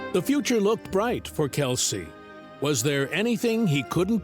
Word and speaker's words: Kelce: Although the extended side of his father's family pronounces their surname as Kels, he opted for his father's pronunciation, Kelsey.